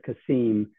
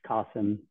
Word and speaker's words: Kasim: in many ways like in many cases people pronounce it kasim but then actually it's qasim so I usually yes